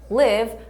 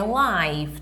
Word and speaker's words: live: Live dá esse sentido. Não é live, tudo bem? Aqui a gente pronuncia viver, tá? No sentido de morar e tudo mais, a gente pronuncia live.